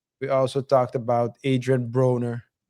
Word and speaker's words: Broner: We also talked about Adrien Broner. Is that how you pronounce his last name? Broner, right? Broner, yeah.